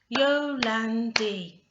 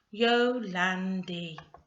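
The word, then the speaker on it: Jolandi: lulandi how many sounds how many syllables yo landy three let's have a look to see if we're correct yes you can divide that word into three and can you see the vowels there in each section helping that sound yo landy three syllables what about stephen did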